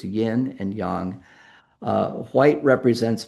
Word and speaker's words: yin: And we we People often refer to this as yin and yang, but that's not how you pronounce it. It's yin and yang.